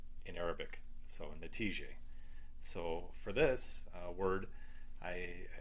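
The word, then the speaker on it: نتيجة: The next word, result, is pronounced natije in Arabic. So natije.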